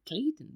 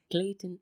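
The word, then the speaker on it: Klaytn: second to be honest I haven't heard of Clayton blockchain but Clayton is an open-source public blockchain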